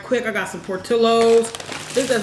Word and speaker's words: Portillo's: I got some Portillo's. This is how you pronounce it, man.